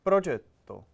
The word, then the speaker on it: Progetto: You actually said a decent pronunciation of Progetto. Let's Progetto. Progetto. Progetto. Progetto.